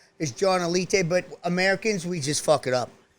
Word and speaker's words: Alite: he goes by johnny a light the correct pronunciation is john alite but americans we just it up dude is cool as elite is the cr is the correct pronunciation because